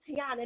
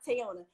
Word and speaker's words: Teyona: That's why the last episode, she was like, it's Teyona, not Teyona.